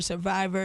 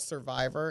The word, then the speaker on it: Cervivor: Like, I mean, again, you're a survivor, you're informed, and I love the message that you have and the way that you're able to deliver it.